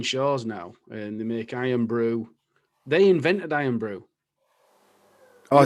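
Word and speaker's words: Irn-Bru: they're called ben shaw's now and they make iron brew they invented iron brew oh did they you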